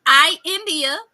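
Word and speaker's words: I'India: just for correction because a lot of folks say my name incorrectly and I will nicely correct you after you put the period at the end of the sentence so my name is I India that is i i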